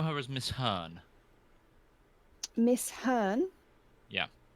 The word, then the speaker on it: Hearne: you would know her as Miss Han miss Hearne yeah H e AR N and I believe